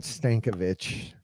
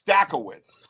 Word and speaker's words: Stackowitz: the St stack don't it's not stankovich stackt stackt I I didn't mean it like that so it's stackowitz so my last name's